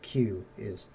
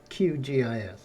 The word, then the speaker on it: QGIS: shortened it to qgis you'll hear people say qis and all that it's not that that's not how you say it it's it's called qgis pet peeve of mine